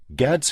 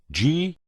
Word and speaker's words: Gad's: He moved into a large house by the name of Gad's Hill Place. You spell that G-A-D''S.